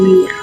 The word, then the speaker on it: Meneer: Si ibunda dari Nyonya Menir ini melahirkan beliau. Ibundanya berpikir untuk memberi namanya sebagai Menir. Namun karena Indonesia pada saat itu masih mengikuti ejaan dalam Belanda, jadi penulisan Menirnya bukan Menir tetapi Mener.